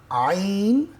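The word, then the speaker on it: ع: পাতলা মোটা মোটা এরপরে আইন কন্ঠনাল কোন জায়গা থেকে উচ্চারণ করে পড়তে হবে হলুকের মধ্যখান থেকে মধ্যখান থেকে মাঝখান থেকে আইন একই জায়গা থেকে কি হবে হা আইন হা এরপরে গাইন খ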